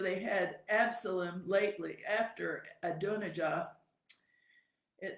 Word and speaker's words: Adonijah: So, Adonijah. Adonijah. That's Adonijah. Adonijah. That's how we pronounce it.